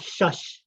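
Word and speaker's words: shash: not uh bother uh is called shush that's how you say bear in navajo it's one of the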